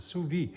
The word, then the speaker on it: sous vide: We have a sous vide station. That's how you pronounce it, sous vide.